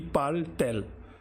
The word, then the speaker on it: parle-t-elle: We have put extra t because there will be two vowels facing each other, and just to avoid the pronunciation hurdle, this t is there, but it doesn't have any specific meaning.